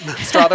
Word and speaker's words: Strother: Strother like father. For sure. Yep. Strother like father, not Strother like brother.